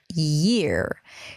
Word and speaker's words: year: And the question is, how do you pronounce year? It's so hard to pronounce year. My year sounds like ear, and I keep practicing it.